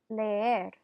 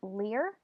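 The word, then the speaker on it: leer: repeatin cantar to sing layer repeat on layer I do have a lot of students who want to pronounce this as Lear and Lear is a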